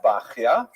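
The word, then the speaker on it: Bahya: The customary pronunciation is bakya.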